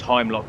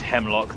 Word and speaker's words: Heimlock: I thought it was Heimlock, but apparently it's Hemlock, the I is silent.